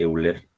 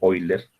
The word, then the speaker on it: Euler: ecuación de capacidad de Euler o de oiler lo más corrector la pronunciación decíamos de una columna